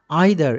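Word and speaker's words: either: Influenced by আইদার, এটিকে আইদারও উচ্চারণ করা যায়, ইদারও উচ্চারণ করা যায়।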